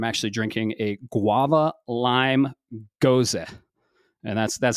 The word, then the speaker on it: Gose: Today, I'm actually drinking a guava lime gose, and that's how you pronounce it.